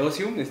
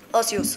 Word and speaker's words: Ocius: ¿Cómo se dice Ocium? ¿Lo dije bien o...? Ocius. Ocius, perdón, Ocius.